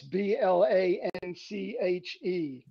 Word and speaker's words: Blanche: It's spelt like Blanche in a streetcar named Desire. That's Blanche. Blanche. Okay, got it.